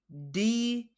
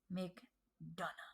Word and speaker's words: McDonagh: Breaker versus JD McDonagh. McDonagh.